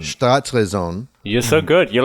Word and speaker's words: Staatsräson: The how do you pronounce it? Staatsräson. Staatsräson.